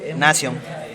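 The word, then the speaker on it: Nasion: Nación.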